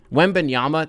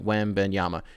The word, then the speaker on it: Wembanyama: Wembanyama, that one's at least easy to like do the finger tracing thing. Wembanyama. It's spelled phonetically. It's not that hard to figure it out.